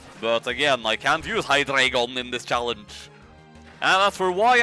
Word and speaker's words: Hydreigon: again I can view hydreigon in this challenge after why I Britian pronouncing it like that because it's name is taken from the German word for one two and three eine zwei drei so yeah at the